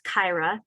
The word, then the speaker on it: Kira: six New England states and it's hard to pronounce my name so I'll say it again it's Kyra and I've been at EPA for 25